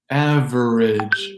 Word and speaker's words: average: Average becomes average.